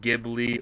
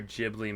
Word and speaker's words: Ghibli: What is your favorite Ghibli or Ghibli movie, depending on how you pronounce it?